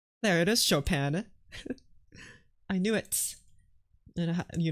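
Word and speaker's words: Chopin: me just copy it from Wikipedia here fris chopan you ready you're not ready for this French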